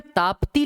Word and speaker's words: तापी: अब देखो इंग्लिश में ताप्ती लिखा जाता है, TAPTI, इसका प्रोनाउंसिएशन तापी है। नदी का नाम तापी है, लिखा ताप्ती जाता है।